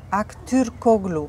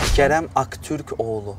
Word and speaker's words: Aktürkoğlu: Aktürkoğlu. Aktürkoğlu, yes. Kerem Aktürkoğlu. Kerem Aktürkoğlu. Aktürkoğlu. Aktürkoğlu. Yes. Yes. You don't pronounce this one, oğlu. Yes, oğlu. Oğlu. From throat, oğlu. Oğlu. Not oğlu, yes.